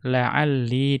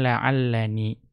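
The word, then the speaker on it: لعلّي: Maka perhatikan la'alli di situ. Ya, bukan la'allani. Artinya ya mayoritas ya orang Arab itu membacanya dengan la'alli tanpa nun wiqayah.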